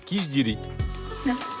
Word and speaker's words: khichdi: Et attention, ça s'écrit mais à l'indienne ça se prononce qui diiri.